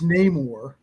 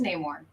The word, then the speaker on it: Namor: and it's Namor, it's It is Constantine. It is Namor.